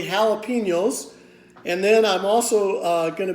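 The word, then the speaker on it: jalapeño: be having some jalapeno that's spelled with a J some people might say jalopy know it's really jalapenos and then I'm also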